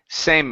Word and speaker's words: same: with the word same so here you're saying same okay stop on the M sound the E is silent same okay same good